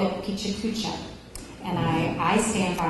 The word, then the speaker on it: Pecha Kucha: very fast concise manner they they called it picha cucha and I I stand by my pronunciation because Carlton wall chipo who speaks Japanese told us that was how it was pronounced uh other folks say pakak but either way it's a lot of fun